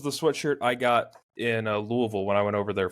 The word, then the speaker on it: Louisville: up I think you mean Louisville you mean Louisville just triggered so much within me he talked about that Lewisville Kentucky Eli you're saying it wrong too shut up best part